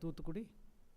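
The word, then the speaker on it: Tuticorin: Singh deep down south you look at tutri in English it is spelled as tutorin in that Port this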